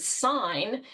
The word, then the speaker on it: sign: Oh, now I'm noticing that G in the word sign that didn't really make a lot of sense to me until I realized how it was related to signal, which is pronounced.